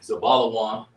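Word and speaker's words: זבולון: Okay, so it's Za, Ba, La, Wan. Zabala Wan. And it means dwelling with me. Zabalawan. It means dwelling with me. In the Hebrew, Zabalawan, Zebulun, Zabalawan would be Za, Ba, La, Wa, Na.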